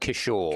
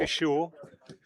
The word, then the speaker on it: Kishore: Is that how we pronounce it? Kishore. Kishore.